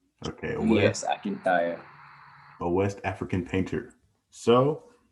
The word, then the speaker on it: Akintayo: So, could you pronounce it for me? Oh, okay. Akintayo, Akintobi. Okay. Akintayo, right? Okay. Yes, Akintayo.